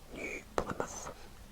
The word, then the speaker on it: New Plymouth: called e plymouth and there is actually a place in the united kingdom called plymouth so that was easy to pronounce some of these names